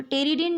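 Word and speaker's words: pteridine: टेरिडिन. त्या ठिकाणी पी पासून स्पेलिंग आहे पण पी हलका आहे त्यामुळे टेरिडिन डेरिव्हेटिव्ह.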